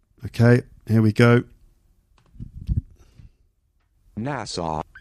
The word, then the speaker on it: Nassau: okay here we go nasau Nassau I think that's the American English pronunciation anyway it's an island